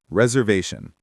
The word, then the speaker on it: reservation: The word reservation. Many learners stress the first part too much.